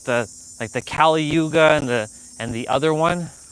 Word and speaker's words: Kali: was easy to say Kali. So, yeah. And it's close to Cali, like California.